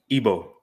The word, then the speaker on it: Igbo: Now I'm Igboo. How you say it? Ebo.